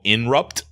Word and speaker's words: Inrupt: So the new company that is backing his decentralized platform is called Inrupt. Not Interrupt.